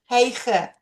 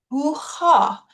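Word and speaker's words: Hygge: on your screen, I used to call it Heige. And I know you've been quietly avoiding saying the name out loud. You are definitely not alone. It is actually pronounced hoo-ha, not hee or heigi, not whatever comes out when you suddenly have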